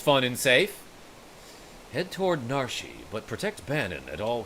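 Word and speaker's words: Narshe: I always pronounce it like Marsh, but the wiki says it's pronounced Nar.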